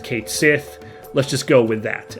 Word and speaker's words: Cait Sith: But yeah, so the actual Cait Sith of folklore is pronounced Cait Sith, because that SITH sound, I believe, is always pronounced she in Irish and maybe Scottish as well.